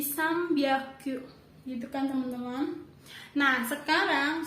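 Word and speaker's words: 三百: Tapi kalau jika berubah jadi M, jika mengikuti huruf B, P, M, itu jadi beda gitu ya teman-teman bacanya. Cara baca jadi pakai Misalkan di sini contohnya tadi Sambyaku, tapi dibaca jadi Sambyaku, gitu kan teman-teman.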